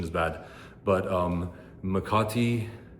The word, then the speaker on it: Makati: is bad, but um Makati um make make a tea um So so I want it to be called Mr.